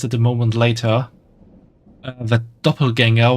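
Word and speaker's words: Doppelgänger: moment later that doppelganger was actually written with an with the A with 2 dots above, which is pronounced this A sound, contrary to what stuff is, or to what is mostly written in English with just an A, which is the original German writing of the word.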